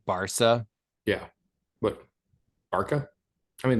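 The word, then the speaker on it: Barça: Barca? I mean, the city is pronounced Barcelona. I don't know. Maybe I need to watch more of La Correct. Liga. It's Barcelona, but if you shorten it, it's Barca.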